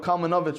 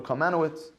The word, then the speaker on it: Kalmanovich: You go to the Mir Yeshiva, and you have Rav Kalmanovich, or Kalmanowitz, depending how you want to pronounce it.